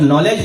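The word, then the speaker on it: knowledge: बालेकुल जैसे इंग्लिश में होता है नॉलेज, तो जब नॉलेज बोलते हैं तो वो शुरुआत किससे है, के से है, लेकिन लग रहा है क्योंकि के साइलेंट है वहां, लग रहा है कि नॉलेज हम एन से शुरू करेंगे।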